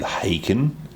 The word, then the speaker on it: Haken: Have you ever heard of a band from the UK called Haken? No. It's like Taken but with a H.